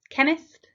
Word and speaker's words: chemist: k doubt silent B chemist silent h which when what why